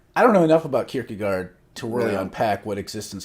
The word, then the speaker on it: Kierkegaard: a false stereotype that kierkegaard or i was told that you're supposed to pronounce it kierke goer but i refuse because it sounds so contentious uh was only concerned